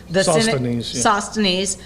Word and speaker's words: Sosthenes: Sosthenes, the synagogue leader, and beat him in front of the judgment seat.